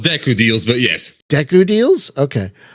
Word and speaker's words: Deku Deals: It's pronounced Deku Deals, but yes.